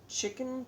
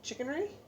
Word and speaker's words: chicanery: So I liked the chickenry? Chicanery. Yep, that's chicanery. Chicanery? I don't know what that word means. I would have to look it up. Okay, Google. Define chicanery. See if I'm saying it right. Oh, I did.